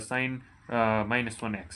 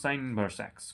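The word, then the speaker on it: sin⁻¹ x: We can't pronounce it sin uh minus 1x. It is the wrong way of pronunciation. You should pronounce sin inverse x cos inverse x tan inverse x cosec inverse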